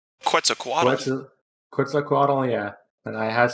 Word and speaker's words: Quetzalcoatl: I don't know how to pronounce the name. Quetzalcoatl.